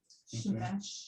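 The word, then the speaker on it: שמש: Shemesh. Shemesh. That's what Shemesh. Shemesh. How it's spelled how it If sounds.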